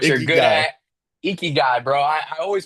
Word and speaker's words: Ikigai: Like it literally, like I cannot pronounce it right still. The Ikiagi, right? What you're Icky good guy. at, Ikigai, bro.